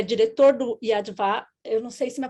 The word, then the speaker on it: Yad Vashem: Inclusive, o senhor é diretor do Yad Vashem, eu não sei se minha pronúncia está correta, Yad Vashem. Yad Vashem.